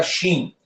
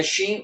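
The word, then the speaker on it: שׁ: No hebraico, nós temos uma consoante que leva este som, esta pronúncia, como um CH no português, que tem um som de chá. Que é justamente aqui, ó. Certo? A letra Shin.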